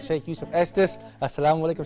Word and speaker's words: Estes: that's right Shaykh Yusuf Estes assalamu alaikum say yesterday Kuntz an aromatic shake how did you your your last name rhymes with the state you come from estes texas texas missouri is saying my